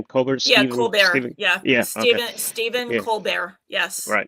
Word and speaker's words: Colbert: uh coar signal I guess that's how you pronounce his name. Colbert Coar. Yeah. Steven Steven Colbear.